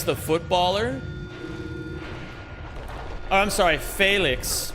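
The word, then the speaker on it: Félix: Oh, I'm sorry, Felix, right? Is how it'd be pronounced, not Felix.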